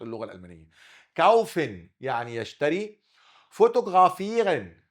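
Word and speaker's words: fotografieren: فوتوغرافيرن، فوتوغرا ده اتنطقت غين عشان جه وراه متحرك، وده برضه غين عشان وراه متحرك.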